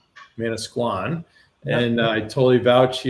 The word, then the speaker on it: Manasquan: So by way of introduction, Mike lives in New Jersey in the by the shore, Manasquan. Is that how you pronounce it? Manasquan. Manasquan.